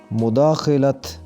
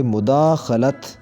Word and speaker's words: مداخلت: غلط تلفظ ہوتا ہے مداخلت، خے کے نیچے زیر پڑی جاتی ہے، یہاں خے کے اوپر زبر ہوگی اور پڑھیں گے مداخلت، مداخلت، مداخلت۔ چوتھا لفظ